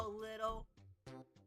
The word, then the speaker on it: Lidl: The Little is spelled Lidl.